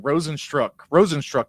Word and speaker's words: Rozenstruik: Rozenstruik, I think is how you pronounce it.